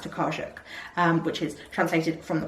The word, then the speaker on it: Tokarczuk: I think it's pronounced Tokarczuk, which is translated from the Polish by Antonia